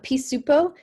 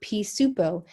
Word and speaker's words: pisupo: to write this but samoan words cannot end in a consonant so they took p soup and then added an o at the end that's how they got pisupo all right pea soup